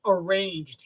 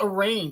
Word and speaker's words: arraigned: Arranged. He said, yeah, you get arranged right there, like making an edible arrangement. It's called arraigned.